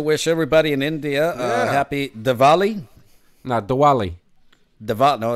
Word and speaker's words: Diwali: They spell it with a W, but it sounds like a V. So it's Oh, is it Diwali. Diwali? Diwali.